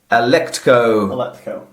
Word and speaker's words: Alecto: To achieve this end, she enlists the Fury Alecto.